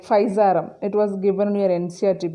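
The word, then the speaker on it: Physarum: under that we have so many example like faizarum it was given near ncr book paisa p h y s a r u m pizzarum as an example for slime mode so it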